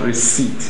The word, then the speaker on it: receipt: now come to receipt in the word receipt it's not receipt but receipt so the P again g is silent our answer therefore is